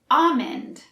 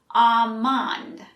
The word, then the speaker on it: almond: about this next one that l is tricky you might guess we say almond but the l is actually silent so we say almond it technically isn't wrong if you pronounce the l almond but it's usually silent for us also notice i don't say ah monde i say it with an e sound almond let's practice almond almond